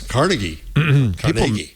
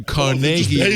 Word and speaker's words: Carnegie: I was Carnegie.